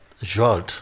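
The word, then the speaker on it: Zsolt: And Salt, Z-S-O-L-T, how you pronounce it? Huh? Jolt.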